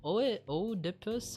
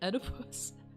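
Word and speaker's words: Oedipus: O o dippus.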